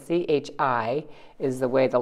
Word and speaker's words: chi: which looks also like an x but it's pronounced differently of course it's chi not c c h i is the way the letter sort of looks